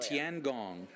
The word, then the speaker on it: Tiangong: out on this thing and how do you pronounce it again cuz I think I said it wrong right tiangong TN God heavenly Palace is the translation in